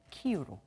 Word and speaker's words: 키이우: 검토하고 있기에 또 그 나라 지명은 그 나라 발음 으로 표기하고 있는 다는 국립국어원 권고에 따라 mbn 더 수도 키에 분은 키 유로 j 의 도시 하루키 프는 하루키 우등으로 쓰기로